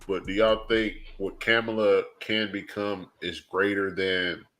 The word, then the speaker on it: Kamala: She got the Indian in there. That's that Indian that got pronunciation. Well, just say her name right is what my point is. Go ahead. It is Kamala.